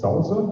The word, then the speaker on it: SLSA: of that um there is a thing called Salsa that's actually how it's pronounced that's in this area there's an initiative